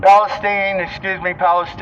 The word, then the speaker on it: Palestine: Palestine. Palestine. That's how they pronounce it.